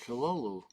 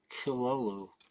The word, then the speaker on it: Cthulhu: That's how you pronounce it, Kilolu. With a slight guttural sound on the Kilolu.